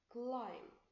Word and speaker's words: climb: Look at letter M here. Letter M is stronger than letter B. Climb.